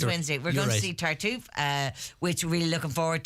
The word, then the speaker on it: Tartuffe: This Wednesday we're going to see, and I've written it down this time to make sure I say it right, Tartuffe.